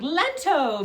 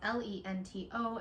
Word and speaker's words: Lento: beautiful like Graphics popping up that say like lento by like Jonah Hilla here like because we